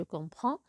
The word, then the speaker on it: comprends: conjuguer le verbe comprendre je dirai je comprends même si le DS ne se prononce pas on l'écrit je comprends tu comprends il comprend